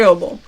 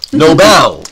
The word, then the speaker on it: Nobel: very Noble he's very Noble yeah Nobel Noel you got the wrong uh the wrong Accent on the wrong that's right yes don't